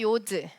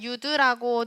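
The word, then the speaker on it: יוד: 요드. 요드. 네, 괄호에서 유드라고 되어져 있는데 유드라고 발음하기도 하고 요드라고 발음하기도 합니다.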